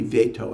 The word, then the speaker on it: veto: Or should be veto, actually, not veto. It's an American mispronunciation.